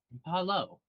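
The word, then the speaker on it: Pahlo: This is Paolo. That is that it's spelled P-A-H, and there's a space, L-O. from the back. Okay. Paulo.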